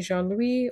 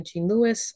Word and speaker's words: Jean-Louis: yourself your background okay my name is Jean Louis or Jean Lewis I'm fine with either pronunciation of my last name I was born and